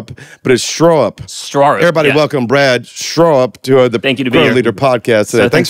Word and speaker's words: Straarup: South Africa and it's straw up you got to say like a straw up but but it's spelled starup but it's straw upw up everybody welcome Brad straw up to the leader podcast